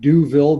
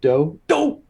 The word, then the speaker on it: Douville: We've got Greenlane Renewables out of Burnaby, British Columbia, under Brad Douville, the CEO. Could be pronounced Deauville, but it's Douville or Deauville.